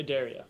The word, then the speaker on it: Adaria: Adaria, actually, is how you say it.